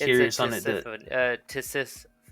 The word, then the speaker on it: Tisiphone: Tisiphone. Tisiphone. Yeah. Sounds like Tiffany with a S in the middle.